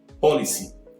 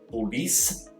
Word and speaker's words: policy: Só um detalhezinho, pronúncia daqui é policy, não é police, é policy.